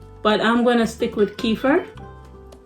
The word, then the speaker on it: kefir: You could call it kefir or kefir, and there's other ways to pronounce it, but I'm gonna stick with kefir.